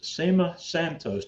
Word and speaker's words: Cema Santos: and we have our special guest tonight miss SEMA Santos did I pronounce that correctly that's right it's good and